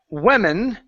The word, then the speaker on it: women: like so woman okay and women okay with an e n is pronounced we women like so so singular woman plural